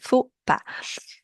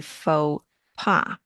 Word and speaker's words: faux pas: The word faux, actually the original pronunciation, not faux, that's how we say in English, but in French it would be faux pas.